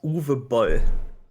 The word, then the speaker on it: Uwe Boll: But yeah, also the name is pronounced Uwe Boll.